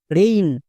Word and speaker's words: rain: একার সাউন্ড হয় না এ আই যদি আমরা দেখতে পাই তার জন্য এই সাউন্ড করবো মনে থাকবে যেমন এর